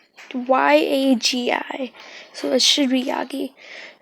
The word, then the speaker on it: Yagi: I'm pretty sure that's how you say it. It's Yagi.